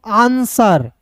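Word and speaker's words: answer: आंसर ए एन आन एस का स होता है। डब्ल्यू यहां पे साइलेंट होगा। इ आर का र हो जाएगा आंसर।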